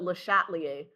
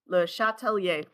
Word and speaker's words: Le Chatelier: Americans who call it Lhatier or Lhatier. L Yay. Lehatelier. So, there's a little bit of an accent on the first one and then the main accent's on the last one.